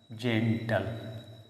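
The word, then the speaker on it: gentle: जी के बाद में आपका वोवेल आ रहा है ई। सो जी को हम इसका साउंड प्रोनाउंस करेंगे। दैट जय। सो जी इ एन टी एल ई जी ई जे ने टी एल ई टल जेंटल।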